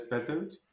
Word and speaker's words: Petöcz: El apellido es Petos, pero vamos, que es imposible pronunciarlo bien.